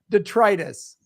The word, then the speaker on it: detritus: was it called detritus detritus okay detritus i love how all i got to do is hit three syllables and grams baffled what